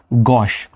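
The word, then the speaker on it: gauche: अगले दो शब्द हैं ड्रॉइट एंड गॉश। इसका प्रोनाउंसिएशन गॉश होगा।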